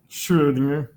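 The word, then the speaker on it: Schrödinger: How do I pronounce Schrodinger? Schrodinger.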